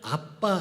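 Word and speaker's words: אבא: 그 발음 자체가 아빠예요 우리 아빠는 우리가 얘기하는 아빠랑 똑같은 발음입니다 그래서 예수님은 하나님을 부르실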